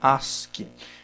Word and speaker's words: ASCII: é o código as se escreve a s c i i mas se fala se pronuncia Ask esse código aqui ele